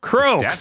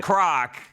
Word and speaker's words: Croak: Um Croc or Croak? Croak. Not Croc. How do you spell it? Uh C R O A K. Yeah, that's Croak. Yeah, just croak like the sound the frog makes.